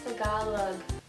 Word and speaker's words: Tagalog: When people pronounce Tagalog, or Tagalog, I understand you can pronounce it any other way, no one really cares. Pero it's Tagalog. Tagalog.